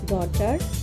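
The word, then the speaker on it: daughter: শব্দের মাঝে জিএইচ থাকলে এর উচ্চারণ হয় না। যেমন নাইট ডটার রাইট।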